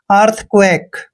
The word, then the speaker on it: earthquake: और देखिए क्याऊ, क्याऊ का उच्चारण हमने यहाँ आधा कै करना है। और क्याऊ के बाद जब भी यू और ए आता है, क्याऊ के बाद जब भी यू आता है तो यू का उच्चारण वह करते हैं। और ए को हमने ए की मात्रा पढ़ना है, के ई का उच्चारण कै करते हैं। अर्थक्वेक।